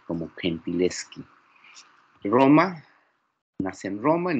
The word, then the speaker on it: Gentileschi: En italiano parece que así se pronuncia el Gentileschi, como Gentileschi.